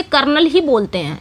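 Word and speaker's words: colonel: इसे कर्नल ही बोलते हैं।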